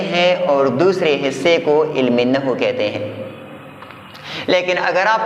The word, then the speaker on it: علم نحو: املا اس طرح ہے۔ عربی میں اس کا تلفظ ہے علم النحو، اور اردو میں بقول میرے ایک باوقار، باعزت اور قابل قدر استاد، اس کا تلفظ کیا ہوگا؟ علم نحو، نہ کہ علم النحو۔